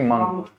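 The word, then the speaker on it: monk: इसकी प्रोनाउंसिएशन मैंने कल ही बताया, इसको हम क्या पढ़ते हैं, मंक। मॉन्क नहीं, मंक।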